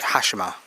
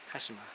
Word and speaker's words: Hashima: How do you pronounce it? Hashima. Hashima.